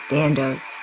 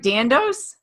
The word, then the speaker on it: Dandois: Her name is Cindy Battlecat Dandois.